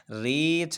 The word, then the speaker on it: wreath: W हो और उसके बाद R हो तो W साइलेंट रहेगा। राइट है, रोंग है, रेप है और इसी तरह रीथ है, WREATH रीथ, रीथ को कहते हैं हार, हार को कहते हैं।